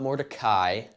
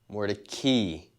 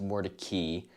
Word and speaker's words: Mordecai: over to mordecai not more to kai more to key funny how that works but it is actually pronounced more to key because one of the